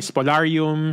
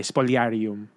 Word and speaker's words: Spoliarium: May spolarium, spolarium. Ah actually it's it's with a eye. Spollyarium, no? Um anyway.